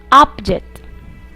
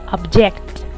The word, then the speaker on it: object: Look and listen to the following words and notice that all of them are nouns and all of them are pronounced making the stress in the first syllable. Progress, present, object, record. When these nouns are converted into verbs, their stress changes to their second syllables.